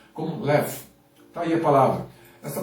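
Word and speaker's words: לב: Uma das palavras hebraicas, né, mais maravilhosas que a gente encontra na Bíblia é uma palavra bem curtinha, pronunciada como lev.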